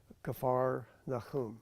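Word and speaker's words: Kfar Nahum: it means capernum means the city of nahim kafar nakum okay or simply kafar nakum which means town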